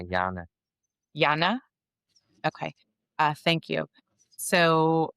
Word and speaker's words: Jarne: Sometimes for me, is it pronounced Harne? Am I saying Jarne. It's like, yeah, Jarne.